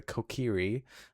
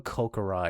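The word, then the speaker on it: Kokiri: Children of the forest, the Kieri live here with me. Each Kiri, I almost keep calling them Kokarai because that's what a kid in my elementary school used to pronounce that as. Wrong.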